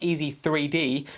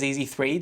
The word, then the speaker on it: EasyThreed: The EasyThreed, and I'm guessing it's supposed to be pronounced Easy3D, but it's written as EasyThreed, so that's what I'm going with, is available in blue and black.